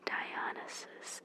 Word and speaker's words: Dionysus: I'm sorry again for my pronunciations. It's Dionysus.